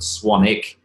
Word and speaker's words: Swanwick: started this rod that Americans don't tend to get the silent W it's actually pronounced Swannack but it's filled it's